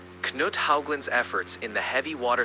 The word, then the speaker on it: Haugland: Knut, was it Haugen? Yes, Knut Haugland.